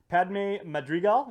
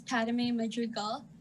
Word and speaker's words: Padme Madrigal: your plate so uh padme madrigal is that am i pronouncing that right ma'am yes half a day everyone my name is padme madrigal i'm a senior at